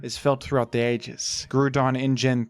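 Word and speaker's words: Groudon: agreed upon pronunciation A lot of Pokémon people mispronounce them they say them wrong but gudon does don't have that problem gudon is a fantastic Pokémon a definitive legendary I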